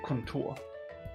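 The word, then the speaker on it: kontor: like that we say Contour or Contour Contour okay Contour try saying it like that with r Contour Contour yeah no rolling off yeah so Chad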